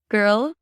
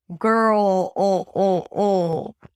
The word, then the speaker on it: girl: It's not girl. It's girl. So to get that sound quality, I want you to swallow and make this really caricaturelike sound of swallowing your saliva. You hear that? So when you do that, you engage the root of the tongue, right? So this is the place where I want you to engage when you make the dark L.